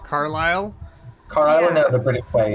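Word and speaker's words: Carlisle: yes oh okay and we are not pronouncing the S Carlile car know the British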